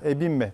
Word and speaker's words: Ebimbe: bir isim daha ekleyelim ebimbe sanırım isminin ebimbe doğru telaffuzu Fransız oyuncu Muhtemelen bir